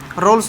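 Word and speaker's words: Rolle: अगर ये तीनों एग्जिस्ट कंडीशन फॉलो करेगी तो हम लिखेंगे ऑल द 3 condition of रोल्स theorem. कई बार इसको रोलिस भी बोल देते हैं प्रोनाउंसिएशन में।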